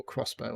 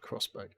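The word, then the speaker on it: X-Bow: It's spelt Expo, but I'm assuming it's called Crossbow. Crossbow, yeah.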